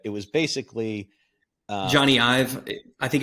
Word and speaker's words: Ive: was basically uh Johnny Ive I think it's it's I think it's I've but I've also heard it pronounce Eve's so so he he